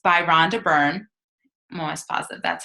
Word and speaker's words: Rhonda Byrne: It's by Rhonda Byrne.